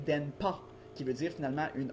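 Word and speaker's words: 電波: Donc, le mot finalement se prononce pas denha, mais bien denpa, qui veut dire finalement une onde radio, les radio wave en anglais, une onde radio.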